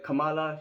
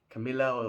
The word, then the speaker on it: Kamala: Rather than calling her Kamala, he said something like Camilla or I don't know.